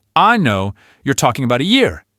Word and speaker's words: anno: If you pronounce the word anno with a long, open ah sound, you are, well, let's just say you're referring to a certain part of the human body.